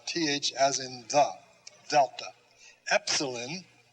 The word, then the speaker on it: epsilon: as in the delta epsilon the short e as in let epsilon zita is a z